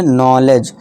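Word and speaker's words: knowledge: नॉलेज के को भूल जाइए।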